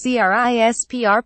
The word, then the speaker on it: CRISPR: now this experimental technique known as CRI SPR pronounced CRISPR for short utilizes snippets of bacteria